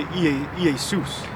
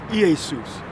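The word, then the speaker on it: Ἰησοῦς: Because the J is a stylized I. So in the Greek, you would say Iesus.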